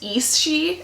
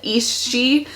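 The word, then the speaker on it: Aos Sí: There's another word that's A-O-S-S-I, and it's East-she, I think.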